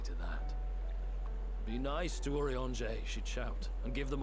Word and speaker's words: Urianger: It's Urianger, remember when you were fucking, young.